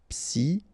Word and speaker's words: psychologique: Okay, remember it's an exception here because you've got this C-H-O. Normally we should pronounce it sho, okay, but in that case we pronounce it ko. Psychologique.